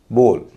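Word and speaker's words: bowl: जैसे दूसरे नियम का अपवाद है बी ओ डब्ल्यू एल बोल जबकि नियम यह है कि ओ डब्ल्यू जब शब्द के बीच में होगा तो उच्चारण औ होगा या उसका उच्चारण ओ हो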